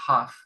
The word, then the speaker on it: half: Bueno, estas dos palabras, el artículo a y la palabra half, H-A-L-F, la L no se pronuncia, half, one and a half quiere decir uno y medio, a half quiere decir medio, ¿sí?